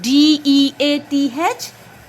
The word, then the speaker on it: death: t h very good d-e-a-t-h death it starts with d sound we have e-a